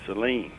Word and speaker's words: Saline: There's the Pedernales River, and our next call comes from Grand Saline or Saline, Texas. We pronounce it Saline.